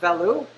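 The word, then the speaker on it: velouté: sauce the bolognese okay veloute some people pronounce it value so an interesting thing about valute is you take chicken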